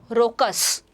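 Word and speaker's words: raucous: देखो इसे बोलते क्या हैं, रोकस, बोलते क्या हैं बेटा, रोकस, ठीक है, तो अपनी प्रोनाउंसिएशन सही करो, रोकस।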